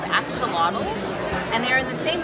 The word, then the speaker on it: Axolotl: Axolotl. Rhymes with bottle.